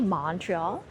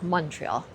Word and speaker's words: Montreal: say it correctly, but a lot of people say Montreal. It's not like Montreal. It's almost more like M-U-N, like Montreal, like the way you would say monkey.